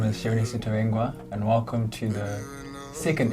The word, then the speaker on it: Mvungi: Is it Mvungi or Mvungi? Mvungi. Mvungi. Yeah. So it's basically the same as Zimbabwe, Yeah. the syllables.